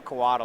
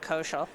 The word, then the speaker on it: Coatl: my lore scale Coatl, I still get the counter. Is it Coatl? I've always pronounced it Koshal. It's definitely Coatl.